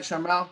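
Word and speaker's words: Sharmell: thought was really cool without his real wife charmelle uh is that right charmelle i'm pronouncing that right that's right yep she uh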